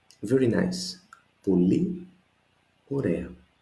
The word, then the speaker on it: ωραία: Πολύ ωραία. Very nice. Πολύ ωραία. 2 words here again. I see my accent, πολύ, and alpha iota is a sound as in permanent that we said.